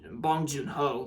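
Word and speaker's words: Bong Joon-ho: out I saw was from bong Jun bong bong Jun ho like yeah you know that's how you say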